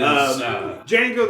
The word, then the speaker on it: Django: I don't know if it's worse or not but uh it is Django the D is silent is also I well I think it's better than these songs but it's uh it's also out of place.